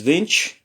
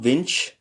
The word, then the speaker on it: viņš: And he is viņš, nye, notice the palatalized N here. Viņš, nye. It's not viņš, it's viņš.